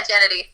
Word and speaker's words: Jenedy: Yeah, Jenedy.